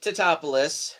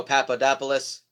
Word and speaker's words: Tatopoulos: Nico Nick Tatopoulos played by Matthew Broderick dr. Nico Papadopoulos topless yeah there's a running gag throughout this movie that people just keep mispronouncing his last name I guess it's trying